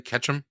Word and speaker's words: Ketchum: His last name is actually Ketchum? Yeah. Like Yeah. Ash You gotta catch 'em all. gotta catch them all? Yeah. But it's spelled with a K.